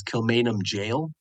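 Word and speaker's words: Kilmainham Gaol: tell you about is Kilmainham Jail. So if you try to spell that, you'll have some difficulty, but just type in Dublin and then type in Gaol, and that'll get you Kilmainham Jail.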